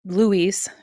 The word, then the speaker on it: Louis: In modern day San Francisco, reporter Daniel Malloy interviews Louis Ponchelac. Daniel Malloy is Christian Slater, and it's Louis. It's spelled Louis, but it's French.